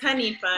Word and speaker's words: Hanifa: I always say it wrong, and I feel like I say it wrong. It's Hanifa. Hanifa.